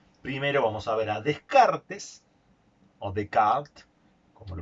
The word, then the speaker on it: Descartes: como la filosofía primero vamos a ver descartes de kart cómo se pronuncian los más eruditos que corresponde a la